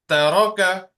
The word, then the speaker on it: ترك: Taraka, ترك ta is a thin letter. Only raw, you will pronounce raw as thick. Ta, raw, ka. Taraka.